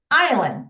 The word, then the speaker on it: island: Is island. 자, 들었을 때 우리가 소리가 안 나는 묵음이 있죠? S에다가 줄을 치고 소리 안 나니까 X를 해 봅시다. S는 발음이 안 되는 지금 단어입니다.